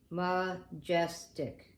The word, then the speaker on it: majestic: I'm going to try that funny schwa sound. And I'm going to divide it between the A and the J, because most of the time the schwa is divided that way. And I will pronounce it majestic.